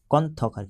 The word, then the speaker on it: কন্থক: লেখা আছে চারনা বা কথক চারনা বা কথক ঠিক আছে কন্থক উচ্চারণ কন্থক ঠিক আছে ভেরি ভেরি